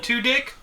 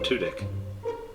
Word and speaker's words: Tudyk: mcbride and alan tudyk did you just call him alan two dick no his name's alan tudek i'm hearing alan the number two in the word dick well that's how you pronounce it yes oh poor guy